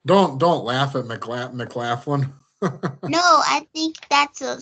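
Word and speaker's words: McLaughlin: MC laughing mlin mlin mlin not m not M laughing that's how it looks that's how a a come on Ashley as the free agent don't don't laugh at MCL mcclaflin no I think that's a solid backup point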